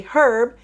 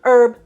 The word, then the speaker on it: herb: Great Britain they say herb in France they say herb by dropping the H so whichever way you'd